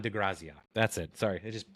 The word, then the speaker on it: De Grazia: I'm probably not saying it right graia d de graia that's it sorry it just popped in my